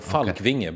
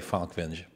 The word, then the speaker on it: Falkvinge: - It's a Scandinavian name so Falkvinge, but yeah, a lot of most Americans say Falkvinge - Okay, well I'll say it right, Falkvinge.